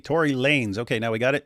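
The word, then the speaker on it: Tory Lanez: So, apparently people in the chat are saying his uh name is pronounced Tory Lanes. So, it's Lanes and he just uh styles it with a Z. Tory Lanes.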